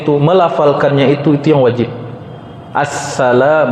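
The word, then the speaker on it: السلام: Assalam, bacanya harus benar. Assalam, pakai alif lam. Enggak pakai alif lam batal, kata Imam Nawawi, bukan kata saya.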